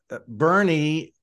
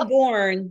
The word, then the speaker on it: Boerne: you would think, but you don't want to call it Boerne either. So I understand that. You'll get quickly corrected, I'm sure of that. If you say Boerne, then we're going to know you're not from here.